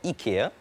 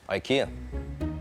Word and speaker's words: IKEA: tell us please well there's no incorrect way to pronounce uh ikea actually in swedish it's called ikea but in in english it's ikea ik stands for our